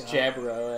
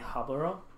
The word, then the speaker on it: Jaburo: It's Jaburo, actually. It's Jaburo. You mean Haburo? No, but it's Jaburo. Why would it be pronounced Jaburo? Because it's in not South America. It's not Spanish. It's Portuguese. So Portuguese and Spanish are very close. They're very similar, but they do have the J sound in Portuguese.